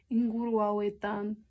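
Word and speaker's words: inguruetan: This one is easy to remember that this one is a hard G because you have an NG. So inguru. So you probably wouldn't even think to turn that into a soft G, because how do you do that when you have an N right there? Inguruaweta. You don't do the soft G there.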